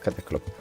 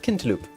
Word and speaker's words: cataclop: The onomatopoeia in French to signify the galloping of a horse is cataclop. Say it like that. When you say it like that, it's adorable. Cataclop. So we say cataclop, cataclop, cataclop, cataclop. Alright. Cantaloupe. No, not cantaloupe. Okay, that guy is super suspicious. Not cantaloupe. Cataclop.